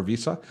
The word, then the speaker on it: VESA: a vest VESA plate I think it's pronounced vasa or visa ves a plate on